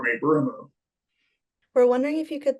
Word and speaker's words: ブルーム: So I was called Brumu in Japan because, you know, they don't pronounce L. So they use the word R. And they added the U on the end of it. They called me Brumu.